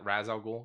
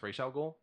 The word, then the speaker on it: Ra's al Ghul: That being said, everybody that says Raz Al Ghul, you're wrong. It's Ra's al Ghul, because it's a real fucking word, not just a name.